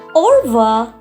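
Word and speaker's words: au revoir: R is not silent but it is little bit suppressed or little bit low or it is not or it is ora.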